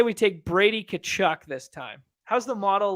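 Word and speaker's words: Tkachuk: say we take Brady kachuk this time how's the model like you pronounce so the the t is silent yeah we yeah yeah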